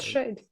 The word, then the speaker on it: SHAED: SHAED, stylized SHAED, pronounced as quote unquote SHADE, as in shade, pronounced shade, like so.